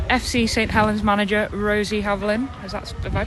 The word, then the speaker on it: Havlin: Helen's manager Rosie Havlin. Is that Have I pronounced that right?